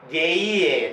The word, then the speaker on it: Jean: And other famous filmmakers of this moment were Marcel Carné, M-A-R-C-E-L-C-A-R-N-E, Marcel Carné, Julian Dewey, Jean Grimmelin, Jean, J-E-A-N, it is pronounced as Jean Grimmelin, and an most important filmmaker, Jean Reno.